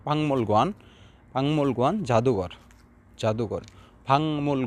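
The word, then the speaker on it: 박물관: বাকমল গোয়ান উচ্চারণ করবে বাংমল গোয়ান, বাকমল গোয়ান উচ্চারণ করবে না, ভাংমল গোয়ান, ভাংমল গোয়ান জাদুঘর, জাদুঘর।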